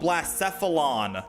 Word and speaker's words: Blacephalon: Oh, Blacephalon. That's how I pronounce it.